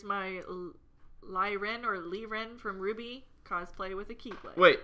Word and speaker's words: RWBY: SaberSpark, it's pronounced Ruby.